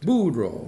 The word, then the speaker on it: Boudreau: Boo. That's how you pronounce it. Boudreau. Really? Yeah. Okay, thank you. Yeah, like a dog named Boudreau.